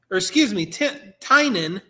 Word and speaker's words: Tynion: James Tynion Tynan. I have to retrain myself to say his name right.